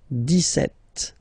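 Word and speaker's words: dix-sept: it's clear but then for the pronunciation deset okay so you don't insist on the S deset deset okay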